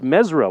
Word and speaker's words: Mazzara: Mark Mazzara enjoying the game from Milton. Oh, and he told me it says it's pronounced Mesra.